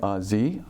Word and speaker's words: Xie: is so the Chinese way of pronouncing my last name is it's like a something like that but my colleagues for the many of them call me Z because it's a lot easier for them to pronounce that's right